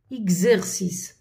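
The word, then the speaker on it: exercise: الاكس تاعنا هنايا قراتها كزو اكزيرسيس. غالبا تكون كيكون قبلها الاكس، هذه قبلها حرف او وبعدها حرف الاو، نقراوها كزو.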